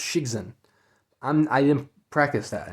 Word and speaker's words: Cixin: I think it's pronounced Cixin.